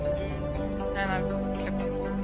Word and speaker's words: Mun: to say it, because I always pronounced it as Mun, then I realised it was actually meant to be pronounced moon, and I've kept on calling it Mun afterwards.